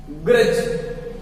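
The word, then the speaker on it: grudge: मीस क्या होता है ड़ी जज मीस झाड़ी ग्रज जी आर यू ब जी ई जी से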